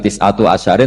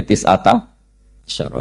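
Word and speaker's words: تسعة عشر: tisata Asaro utawi solongol tetap bacanya bukan tisatu asarin tapi tisata Asaro jadi kita tahu secara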